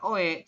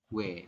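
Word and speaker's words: 외: Tapi kita bacanya bukan OE, cuma dibacanya langsung. Yaitu adalah W seperti ini.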